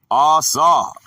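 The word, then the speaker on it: עָשָׂה: The word is asa, pronounced asa, a primitive root, to do or make.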